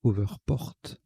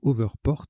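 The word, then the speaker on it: Hoverport: Alors je rectifie la prononciation, c'est Overport. On le prononce à l'anglaise. Donc Overport, H-O-V-E-R-P-O-R-T.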